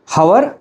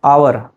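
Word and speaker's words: hour: हवर और आवर। सो, the correct pronunciation is आवर। नॉट हवर।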